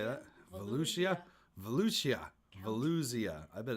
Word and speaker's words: Volusia: uh what I'm going to do it's it's pronounced Volusia I'm gonna post it again tomorrow um whoops